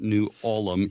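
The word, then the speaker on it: New Ulm: there's the town of newham which uh everyone around all the old-timers they pronounce it new alum even though it's spelled ulm so i don't i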